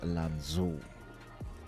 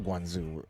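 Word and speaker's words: Lanzhou: It's called Lanzu. It's not Guanoo. It's L A N Z H O E. I don't know if that's the right I don't know if that it's the right pronunciation.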